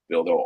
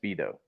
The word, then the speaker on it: Bido: So we'll do Bildo over 5.5 strikeouts. Okay, well, you may butcher the name, but you got to spell it right. It's Bido. B-I-D-O. Bido?